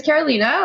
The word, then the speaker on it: Carolina: So my name is Carolina, like you pronounced perfectly, and I'm the Marketing Manager for EMEA at Pexip.